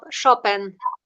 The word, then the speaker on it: Chopin: You like Chopin, although you say it differently. Yeah. We have always Chopin. said. What do you say? Yeah, we say it's a different stress, Chopin.